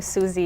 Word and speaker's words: Zsuzsi: the event yeah so my name is but I listen to Suze as well if it's a challenging name to pronounce I'm a licensed mental